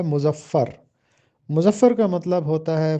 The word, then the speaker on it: مظفر: مظفر کا سب سے پہلے تلفظ دیکھیے، میم پر پیش لگا ہے، زوئے پر زبر ہے اور فے پر شد اور زبر ہے۔ مظفر، مظفر کا مطلب ہوتا